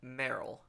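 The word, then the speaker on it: Meryl: pets are solid but Merl it rhymes with Cheryl so things to cook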